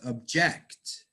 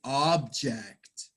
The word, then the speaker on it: object: It's a set where Yes, you do pronounce these words differently if they are a verb or they are a noun.